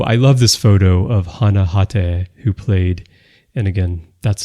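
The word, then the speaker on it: Hana Hatae: Also, I love this photo of Hana Hate, who played, and again, that's the Japanese pronunciation.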